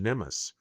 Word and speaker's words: NMMSS: This program is identified using the acronym NMSS pronounced NEMUS. NEUS stands for the Nuclear Materials Management and Safeguard System. Nimus is the US national